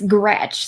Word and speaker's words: Grzech: name your last name it's gretch so that's my name okay correct okay that's way easier than i anticipated but it's the american pronunciation oh yeah i can